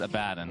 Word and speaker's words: Abaddon: the opposite yeah okay the correct pronunciation is a bad and i've had this conversation